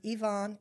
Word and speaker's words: Yvonne: used to tell people my name is Yvonne it rhymes with Avon but I'm not the